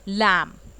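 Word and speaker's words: lamb: तो उसमें भी आप क्या कर रहे हो, बी को साइलेंट.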